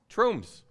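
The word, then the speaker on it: Tromsø: the north of Norway it's pronounced the name troomph okay did you know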